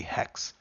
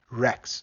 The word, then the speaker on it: Rex: And a dinosaur name, but his name is going to be Hex. Rex, actually. Yeah, the right pronunciation would be Rex.